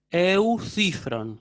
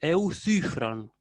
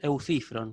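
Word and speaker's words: Εὐθύφρων: Cuando la Y está dentro de un diptongo, se la pronuncia como U, ¿sí? Cuando está solita, se la pronuncia como U, ¿sí? O si no le sale ese U, pueden pronunciarla como una I. Entonces, por eso yo digo eucifron, ¿sí? Eucifron. O, si quieren más fácil, eucifron, con I, ¿sí?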